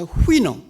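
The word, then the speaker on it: Houyhnhnm: 영어에 이렇게 자음이 6개, 7개 겹치는 경우가 없거든요. 모음 하나도 없이. 그래서 발음을 어떻게 할지 굉장히 아주 난감합니다. 근데 대개 영미 사람들은 그걸 후이놈이라고 발음을 합니다.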